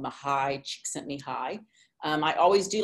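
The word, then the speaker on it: Mihaly Csikszentmihalyi: and identified it as a hungarian psychologist called mahai she sent me high i always do like to brag you know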